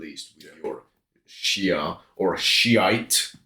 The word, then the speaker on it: Shiite: with your Shia or Shiite is the English pronunciation which is literally what it is.